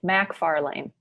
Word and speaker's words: MacFarlane: well everybody butchers it everybody pronounces it as it's an MC but it's Mac M A C Mac Farley Mac Farley nice but